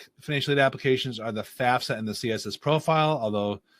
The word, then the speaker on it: FAFSA: Some people pronounce it FASFA. They're dumb. It's FAFSA.